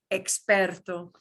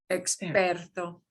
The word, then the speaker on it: experto: depends on the word if it's an ex that starts off the word this is kind of the latin thingy and it'll sound like we do the ex x you know so you've got lots of words where they start in ex and it'll sound like you think it should experto experto si that